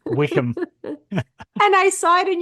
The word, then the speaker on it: Wycombe: Anyway, um, and there was this city called Wycombe Rye, but that's not the real, that's not how you say it. Wickham.